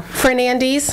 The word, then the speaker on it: Fernandes: How do you say your last name? Fernandes? Yes. Okay. That's correct.